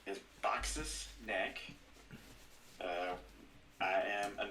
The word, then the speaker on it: Baxas: a yes yes axis yeah but but you pronounce it box box yes and then neck is any k